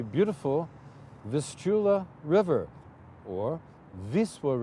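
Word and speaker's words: Wisła: this Chula River or Viswa River as they pronounced it in in Polish with Vistula to the rest of the world how about the view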